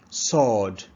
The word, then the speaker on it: sword: is silent no no sword sword sword the W is silent sword not sword sword